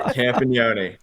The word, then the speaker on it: Campagnone: Justin Campagnone. Nailed it. Absolutely nailed it. Campagnone.